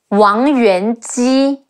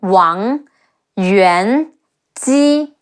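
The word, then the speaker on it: 王元姬: before, and his wife Wang Yuan Ji, Wu Ang Wang Yuan Ji, Wang Yuan Ji, and Emperor Wu of Jin, Sima Yan, Yan, Sima Yan.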